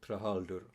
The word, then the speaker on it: Trahaldur: and bar is called trahaldur I like to give it a four Icelandic pronunciation trahalder Golem's official name in